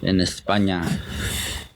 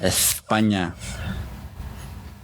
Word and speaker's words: España: then Getafe out in España, for that's how they say it in Spain, España.